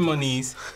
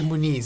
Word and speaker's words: Moniz: I'm called it okay how do you say oh man I say Mon is but it's not it's actually more knees but no one says it like that okay yep that's like